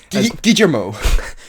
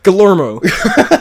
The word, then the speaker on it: Guillermo: And yes, I have learned how to pronounce Guillermo's name correctly. Guillermo. Guillermo.